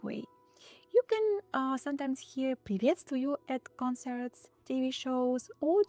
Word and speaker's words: приветствую: The first one is приветствую. Not привет, but приветствую.